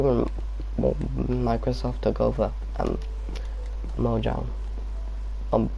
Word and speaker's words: Mojang: microsoft took over and mojang um it's pronounced mojang actually because it's like swedish but like when my